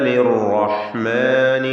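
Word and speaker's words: للرحمن: കാന ലിർറഹ്മാനി അസിയ്യ. കാന ഇസ്തിഫാലിൻ്റെ ഹർഫാണ് കാഫ്, അതിൻ്റെ ദീർഘാക്ഷരവും തർക്കീഖോട് കൂടി ഉച്ചരിക്കുക. ലിർറഹ്മാനി, റാഇന് പൂർണ്ണമായ തഫ്ഖീം. ലിർറ എന്ന് പറയുമ്പോൾ ഒറ്റ ശബ്ദുള്ള റാ ഉച്ചരിക്കണം. ലിർ എന്ന് വിറപ്പിച്ചുകൊണ്ട് പറയരുത്, ശ്രദ്ധിക്കുക.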